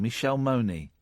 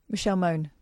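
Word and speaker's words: Michelle Mone: with Tory Pier and I never know how to say her name. Michelle Mooney. Michelle Moan. Okay.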